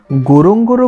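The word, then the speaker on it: Ngorongoro: গোরং গোরো বলেছে উচ্চারণের সময়, কিন্তু বানান লিখেছে এন গোরং গোরো।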